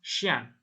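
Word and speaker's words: chien: Tapi ini cara bacanya sha dan xian. Sha itu kucing, xian itu anjing. Sha ya. Jadi C dan H, C dan H itu cara bacanya sh, sha sama xian.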